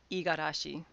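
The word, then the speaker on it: 五十嵐: for the third one but in the context of it being a name the reading is not what you would expect it is igarashi yes no i'm not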